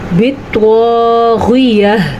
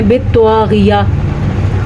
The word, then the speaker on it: بِالطَّاغِيَةِ: فَأُهْلِكُ پڑھنا ہے۔ بِالطَّاغِيَةِ، تو کو پر پڑھنا ہے، غین کے تلفظ کا دھیان رکھنا ہے اور یا کے بعد ہا کی آواز بھی آنی چاہیے۔ بعض لوگ وقف کرتے ہوئے پتہ ہے کیا کرتے ہیں، بالطاغیہ، جناب ہا کدھر چلی گئی؟